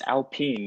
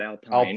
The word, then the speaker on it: Alpine: It's Alpine, not Alpine.